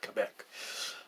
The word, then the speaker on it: Quebec: Quebec, it's the correct pronunciation is Quebec.